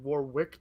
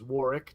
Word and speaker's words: Warwick: that his name isn't warwick davis it's warwick davis did you know that you don't pronounce the second w yeah we learned that